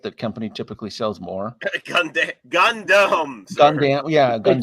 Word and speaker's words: Gundam: company typically sells more Gundam yeah it's pronounced Gundam I mean yeah I